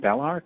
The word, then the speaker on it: Belarc: You can use some tools like, there's one called Bellarc, which is spelled B-E-L-A-R-C.